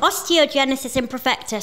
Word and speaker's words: osteogenesis imperfecta: your experience with um our condition which is pronounced osteogenesis imperfecta still can't spell it um it's funny you